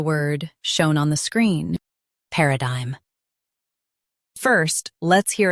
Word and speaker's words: paradigm: Paradigm. Paradigm. US, pe. UK, pa. Same rest.